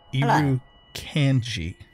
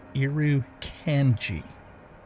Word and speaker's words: Irukandji: Irukandji. That's how the game pronounces it. Irukandji.